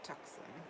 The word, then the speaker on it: Tucson: in tux Tucson and they called it tuxen oh my goodness CU that's like the native apparently pronunciation I thought you were